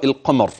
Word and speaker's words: القمر: اردت ان اصل نعم انتبه لرا القمر اقتربت الساعه وانشق وانشق وانشق القمر اذا راء كلمه القمر اذا وقفت فهي مفخمه واذا وصلت فهي مفخمه خذ هذه القاعده العمليه